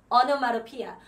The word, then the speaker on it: onomatopoeia: 이걸 천천히 하려고 그러면 안 돼. onomatopoeia 이렇게 하면 안 돼. onomatopoeia, onomatopoeia 그냥 이렇게 외우세요. onomatopoeia, onomatopoeia 이렇게 해야지 외워지지. 안 그러면 안 외워져요. 자, 영국식 발음으로는 onomatopoeia, onomatopoeia 이렇게 하겠죠?